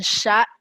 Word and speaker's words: chat: Un chat. Très bien. Chat. On ne prononce pas le H.